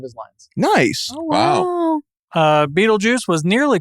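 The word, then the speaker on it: Betelgeuse: Yeah, but they still pronounce it Beetlejuice.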